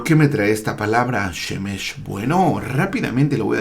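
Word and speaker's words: שמש: Estas 3 letras forman esta palabra, Shemesh. Aquí tenemos la Shin, la Mem y la Shin. Shemesh o Shemesh. Ya que, bueno, en el hebreo el acento recae siempre en la última sílaba.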